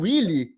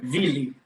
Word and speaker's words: Wille: É o Willy? É o Wiley? Como é que se pronuncia? Como é que é? Vili.